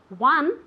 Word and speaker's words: won: Win, de ganar, el pasado, won, is pronounced exactly the same as one, uno.